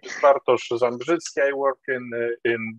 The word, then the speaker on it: Bartosz: the achievement of this important objective thank you bartosz he's a good morning everyone yes uh you pronounce my name quite correctly my name is bartosz zambrisk i work in in digi center where